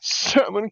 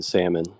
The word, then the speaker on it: salmon: but maybe on you for pronouncing the L in Salmon it's there I'm just messing with you Hank Okay salmon salmon whatever but yeah I I um I don't believe in silent letters that's made up [